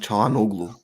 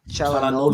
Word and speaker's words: Çalhanoğlu: It's not Hakan Çalhanoğlu. The G is silent. He said. Çalhanoğlu.